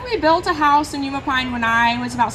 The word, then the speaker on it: Umapine: there, and she's from Umpine, Oregon. And Taylor, I have to admit, I had to ask the pronunciation of Umapine. I didn't know. You're actually close. It's Umapine. Oh, I know.